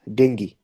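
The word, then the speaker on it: dengue: country by the way sorry it is not called dangu it is called Deni okay the current pronunciation is dingi not dingu but it's okay in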